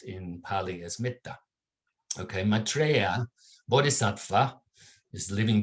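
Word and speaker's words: mettā: from the sanskrit word matri in which is pronounced in pali as mitta okay maitreya bodhisattva is living being on the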